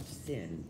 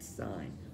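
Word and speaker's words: sine: show you don't laugh it's not pronounced thin it's pronounced sign well you want to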